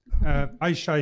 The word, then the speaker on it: Ayca: I shy if I pronounce correctly your name.